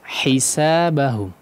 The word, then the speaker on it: حسابهم: Haknya diperjelas. Hisabahum.